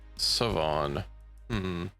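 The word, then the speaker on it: Siobhan: It's Irish pronounced Savon H.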